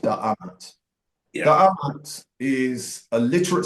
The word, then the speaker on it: Da'amat: DMT, and it's believed to be pronounced Da'amat.